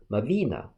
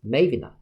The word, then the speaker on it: Mavina: The more popular one's stress is in the second syllable, read as Mavina, while the other's stress syllable is in the first one, read as Mavina.